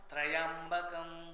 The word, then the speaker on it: त्र्यंबकम: इसी को ही पुराण भाषा में भगवान शंकर के तृतीय चक्षु, त्रियंबकम, उसके उच्चारण में लोग ना त्रयंबकम करते हो, हम लोग गलत है। त्र्यंबकम, त्रि एंड अंबकम।